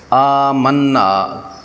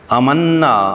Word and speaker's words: آمنا: ہیں، اور وہ ہے لفظ آمنا کا غلط تلفظ، مد کا لحاظ نہ رکھنا۔ جب یہ لفظ آمنا کو جلدی میں امنا آواز کو بغیر کھینچے پڑھ دیتے ہیں تو یہ ایک بڑی غلطی بن جاتی ہے، کیونکہ یہاں حمزہ الف